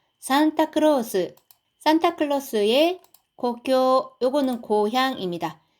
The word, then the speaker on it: 故郷: 산타크로스 핀란데 도나이가 자 산타클로스 산타클로스의 고교 요거는 고향입니다. 같은 한자를 써서 요거를 흐르사또라고 읽어도 됩니다. 뜻은 똑같고요.